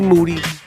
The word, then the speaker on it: Moody: tour me and G Moody whose last name rhymes with duty live taking on the